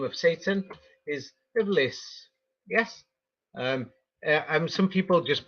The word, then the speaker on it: Iblis: So the thing is, according to the Quran, the name of Satan is Iblis. Yes. Um, some people just pronounce it bliss because there's different Arabic pronunciations, balis, and that's where the name polis came from also.